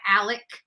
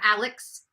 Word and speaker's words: Alex: because they are bougie because he goes by Alec instead of Alex clearly his name is spelled Alex so I I I